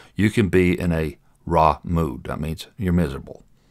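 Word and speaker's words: רַע: just like this okay this is the vowel like an a and this is silent so it's pronounced ra okay r ace r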